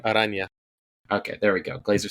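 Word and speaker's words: Araña: I always screw up pronouncing this character's name. Aranya.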